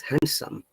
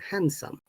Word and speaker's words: handsome: There is no, okay? From today, please do not use D sound, some, yeah? Don't say like, he's handsome. It's handsome. No D at all.